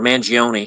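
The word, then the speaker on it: Mangione: I'm gonna read from uh mangion or mangion if I'm gonna pronounce it like Italians hey manang man man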